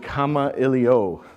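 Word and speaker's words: Kamailio: And more importantly, how do you pronounce Kama-Iliyo? You pronounce it Kama-Iliyo.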